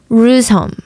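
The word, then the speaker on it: Reuzegom: Rusholm. I think I'm saying that right. It's spelled with a G, but I think it's pronounced H, right?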